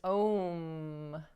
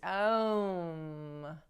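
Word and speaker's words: ॐ: ancient mantra um which many pronounce as om but the sanskrit pronunciation is um and from um also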